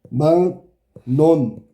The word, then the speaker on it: 막론: 자, 막 론 이게 한 번에 막론이 안 된단 말이야. 망론 그다음에 망론 이해됐어?